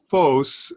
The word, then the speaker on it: phos: So it's phos, it's a long O, and it means light.